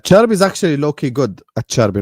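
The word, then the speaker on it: Acerbi: A cherby, not aer because he's Italian.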